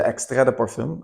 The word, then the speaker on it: extrait de parfum: So the extrait de parfum, as you pronounce it in French, it's an amazing fragrance.